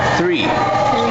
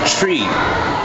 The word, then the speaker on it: three: one two three and I always correct them with the way they pronounce three they say tree but when you say tree then it's a different thing it's no longer that number it's the Uno yeah